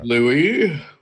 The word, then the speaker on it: Lauhi: to worry about is Lauhi at this point. And even then I could just get Pagos crystals ready and just probably trade them in when it's pronounced Louis.